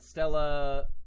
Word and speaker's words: Stella: And Stella. Okay, right. So like the bodies or whatever. Written as main true body, pronounced as Stella, which means celestial star in Latin.